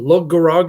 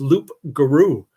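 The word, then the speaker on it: loup-garou: Lug garog is a mispronunciation of loup garou.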